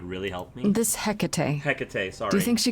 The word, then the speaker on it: Hecate: Hecate, sorry.